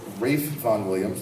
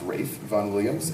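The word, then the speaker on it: Ralph Vaughan Williams: by a British composer Rafe Von Williams looks like Ralph but it's pronounced Rafe Von Williams and Ashley was written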